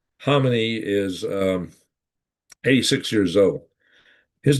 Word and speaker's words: Khamenei: Now, the Ayatollah Khomeini, Ayatollah Khamenei, my understanding is a K and his name is silent. Khamenei is 86 years old.